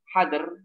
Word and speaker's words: hadr: Adapun pada saat kita membaca Al-Quran dan hadr, ya bukan hadir ini ya, dengan hadr, ketika ingin mengulang-ulang bacaan dan memperbanyak kebaikan darinya, maka hal tersebut tidak mengapa.